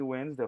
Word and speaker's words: Wednesday: Corta o D, corta o de Wednesday. Falar Wednes a primeira sílaba.